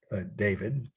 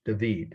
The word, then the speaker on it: David: so here we go this is David or David um is the way we'd say in English but it's pronounced every time I've heard people in Paris